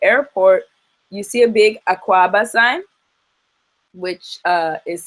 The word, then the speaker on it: Akwaaba: So actually, when you get to the airport, you see a big Akwaaba sign, which is spelled A-K-W-A-B-A-A, Akwaaba.